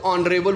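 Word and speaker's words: honorable: ऑनरेबल मैन बोला, एच से start हो गया, जब बोलते हैं तो ऑनरेबल बोलते हैं।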